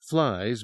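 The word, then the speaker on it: F-lions: I'm talking flies, f lions, cats, like part mountain lion, part ice age saber Note three, pronounced flies mainly because their pouncing attacks gave the illusion of flight.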